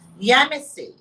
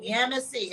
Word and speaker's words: Yemisi: correct name, because I do not like to mispronounce people's names. Okay. So the first name. Simply Yemisi. Yemisi? Yes. Yemisi. You all hear that? Yemisi.